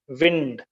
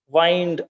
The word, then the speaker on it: wind: The word wind in line 6 is pronounced as wind, and it means moving air. The word wind can be pronounced as wind also. Then it means to turn around.